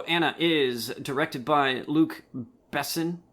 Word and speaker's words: Besson: All right, so Anna is directed by Luc Besson. Or is that how you say his name? I guess. Busan? No, Besson. Yeah.